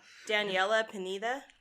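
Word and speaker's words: Daniella Pineda: Daniela Pineda.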